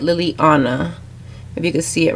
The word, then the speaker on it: Liliana: So that's how you say it, Liliana.